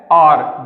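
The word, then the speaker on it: hour: तो ये क्या है, यहां पर इसका जो एच है ये साइलेंट है, ये म्यूट रहेगा। इसको हम प्रोनाउंसिएशन इसकी हम नहीं करते हैं जब हम इसको बोलते हैं।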